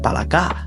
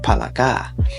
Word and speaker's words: palaka: know I asked her and she said it's pronounced palaka so in talog it's pronounced palaka and I was like oh that's that's super